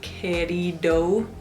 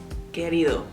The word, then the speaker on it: querido: Y la D, cuando hay palabras con una D, no suena igual que en inglés tampoco. Por ejemplo, la palabra querido. No se dice querido, es querido.